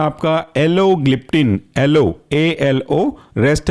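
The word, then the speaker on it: alogliptin: इसके बाद अगला एग्जांपल है आपका एलोग्लिप्टिन, एलो ALO, रेस्ट है ग्लिप्टिन GLIPTIN, एलोग्लिप्टिन।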